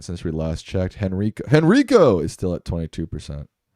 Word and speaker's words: Henrico: You didn't say Henrico, right? I'm I'm not saying it right? No. Henrico. There you go. Henrico. You got to do it like that.